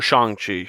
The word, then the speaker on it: Shang-Chi: in the story of shang chi or shang chi is how they pronounce it in the film uh how they weave